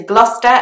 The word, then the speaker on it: Gloucester: the next one is Gloucester again a popular place in England when you're visiting and it's got a C and an S just like Leicester but it's pronounced Gloucester